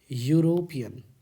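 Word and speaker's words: European: ई से तो लिखा है लेकिन ये उच्चारण किससे हो रहा है? तो यू से हो रहा है। यूरोपियन, यूरोपियन स्टाइल में अगर बोले तो यूरोपियन।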